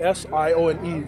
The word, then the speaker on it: Sione: So my first name is Sione, S-I-O-N-E. So that's pronounced Sione.